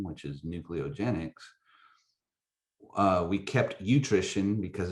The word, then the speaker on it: NücleoGenex: how did you get nutrigenics I mean in today's world you're trying to come up with something did I say it wrong nucleo for nucleotides so nucleotide nucleogenics is that right yeah well I go through